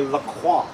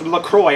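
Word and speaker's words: LaCroix: want to thank you for, oh, awesome, a La Croix." Get into a lot of debates as to whether it, how it's pronounced, and people yell at me and call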